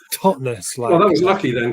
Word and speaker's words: Totnes: a bone of contention people always pronounce it totness like Lochness and it's totness well that was lucky